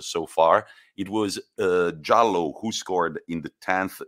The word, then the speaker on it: Jallow: far it was uh jallow who scored in the 10th minute of course it's not spelled like yellow in italian it's j-a-l-l-o-w and it was a